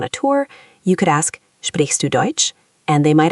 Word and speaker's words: sprichst: Sprichst. The ch is soft, like a hissy sound.